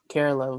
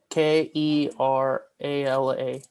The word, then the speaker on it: Kerala: and so I wanted to know more about Carerala because my family is from there. Uh from where? Carerala. Okay, let me look that up. Spell that for me. K E R A L A.